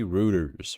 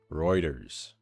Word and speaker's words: Reuters: I always say routers, but it's Reuters, right?